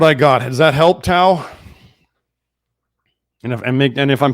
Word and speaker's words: Tao: Well, Tau, we're really glad to have you, and I do notice you on Twitter with some of your posts.